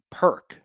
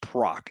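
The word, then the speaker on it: Perque: my friends her her her maiden name is Perk P E R Q U E but it's not pronounced proc like it's spelled just like that.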